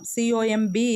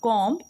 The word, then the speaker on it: comb: എന്താണ് അതിൻ്റെ തൊട്ടിപ്പുറത്തായിട്ട് ഒരു കോം, COMB is pronounced as comb, not comb. It is storm and comb. B is silent there.